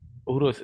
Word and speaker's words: Uros: I don't know how to pronounce the name of that city. Is it Euros? Uros? Uros.